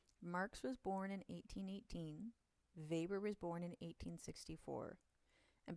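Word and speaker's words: Weber: look at is Max Vber. Uh, I want you to note that even though his last name starts with a W, you pronounce it as a V.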